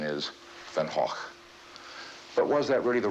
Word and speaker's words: Van Gogh: The fact is in the English-speaking countries he's referred to as Van Go. In France they call him Van Go. And of course the proper Dutch pronunciation is Venhawk.